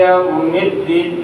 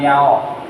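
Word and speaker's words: يوم الدين: iki yaumiddin ya bukan yao yaingakeun yaumiddin memang tulisannya ya pak yaw sukun fatah ya nah tapi dibacanya yau pokoknya mah pokoknya mah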